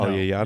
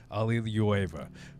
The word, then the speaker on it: Aliyeva: I don't even know how to pronounce her last name. Aliyeva. Aliana? No, Alyeyana? you're gonna have to learn that too, Aliyeva.